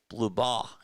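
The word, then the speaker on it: Blubaugh: Blue.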